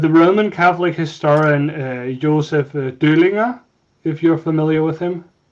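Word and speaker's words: Döllinger: Over here we call him Dollinger, but yeah, you're probably pronouncing it better. Yeah, it's with the umlaut, you know. Ignaz von Dollinger. Yeah, precise. Yeah. In German it's Döhlinger because it's with, okay.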